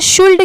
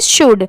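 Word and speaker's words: should: एल दिया हुआ है हम इसे शुल्ड क्यों नहीं पढ़ सकते तो देखिए यहां पर ये जो लेटर एल है इस वर्ड में ये साइलेंट है इसेलिए लिए इसे हम क्या पढ़ेंगे शुड साइलेंट वर्ड्स में क्या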